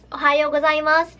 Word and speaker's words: おはようございます: how to say Ohio was ie mas yes ohayo gozaimasu it means good morning so Ohio was I'm